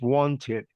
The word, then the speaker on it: wanted: kid there one chance whenever you have a verb that has a final t or d you have to pronounce the e d so the pronunciation is wanted and when you say